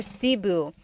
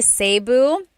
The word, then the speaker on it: Cebu: So, technically in the Tagalog alphabet, the letter E can be pronounced E or E like the letter I. So, I say Cu. Cebu. And I know some people say Sabu, but usually it's either Cu or Sebu.